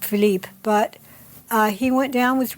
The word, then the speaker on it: Philippe: It was Philip something, and would have been pronounced Philippe.